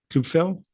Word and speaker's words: Kluepfel: And then this is continuing my tradition of mispronouncing everybody's name. Kluepfel?